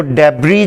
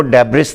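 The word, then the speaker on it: debris: وہ سپیلنگ جانتا ہے، اور وہ ڈیبری جانتا ہے، وہ ڈیبرس تو جانتا ہی نہیں۔ تو کبھی بھی آپ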